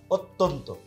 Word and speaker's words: অত্যন্ত: অত্যন্ত, এখানেও কিন্তু অত্যন্ত, অত্যন্ত না, হ্যাঁ, অত্যন্ত, আর শেষে ত, এই যুক্ত বর্ণর শেষেরটাও কিন্তু কি হয়? সবসময় ওকার হয়।